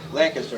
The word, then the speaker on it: Lancaster: Lancaster, actually. That's how they say it. I get corrected all the time. I say it both ways.